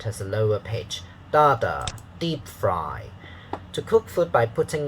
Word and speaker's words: deep fry: to the ipa okay it's dada deep fry not deep fried if you say deep fry is da da so the stress pattern uh the the pitch pattern is not very good not dada deep fried wrong okay dada deep fry let's practice reading